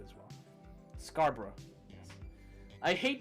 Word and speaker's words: Scarborough: Is that how you say it, Scarborough? That's how you say it in the UK, Scarborough.